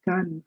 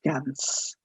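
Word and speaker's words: Cannes: Of course, I just mentioned the famed film festivals that you have, the Khan film festival. Please from now on at least never pronounce it as Gans.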